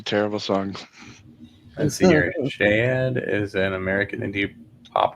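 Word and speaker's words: Shaed: Shade is an American indie pop trio based in Washington DC. It's pronounced shade. Shade.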